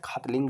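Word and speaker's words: Khatling: That glacier is called as खतलिंग glacier. के एच ए टी एल आई एन जी। आप ये आप देखो प्रोनाउंस कैसे करोगे आप? इट is called as खतलिंग glacier.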